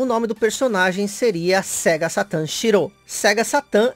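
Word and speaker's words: セガサターン: De início, o nome do personagem seria Sega Satan Shiro. Sega Satan é como é pronunciado Sega Saturn aqui no Japão.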